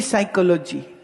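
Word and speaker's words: psychology: तो लिखते क्यों हो पी साइकोलॉजी बोले पी नहीं बोले पी साइलेंट है साइकोलॉजी तो फिर पी काहे लिखा है मरदूद मत लिखो अब अजब भाषा है।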